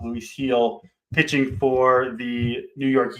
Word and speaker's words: Luis Gil: Looks like Luis Gil, but it's pronounced Luis Gil, pitching for the New York Yankees, both right-handers.